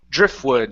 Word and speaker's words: driftwood: So instead of saying dri drift drifwood. Now um you can pronounce this t if you want to, but you don't have to. You can pronounce the f to the oo. Drifwood. And that's all right.